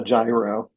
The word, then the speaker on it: gyro: I know the right way to say it is a euro.